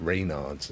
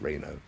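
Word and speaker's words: Raynaud's: has a condition called reynard's actually i think it should be pronounced reino because that's how it's spelt a french physician discovered it but um it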